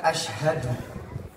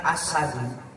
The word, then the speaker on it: asyhadu: Ketika bersyahadah, Bapak Ibu, abang-abangku, adik-adikku, kalimat asyhadu dengan asadu ataupun asyadu itu jauh berbeda. Kalau asyhadu, saya bersaksi, ini tepat, asyhadu. Tapi kalau dibacanya menjadi asadu, jadinya singa. Pun ketika membacanya dengan kalimat asyadu, nggak ada haknya di sedalam, maka jadinya lebih berat.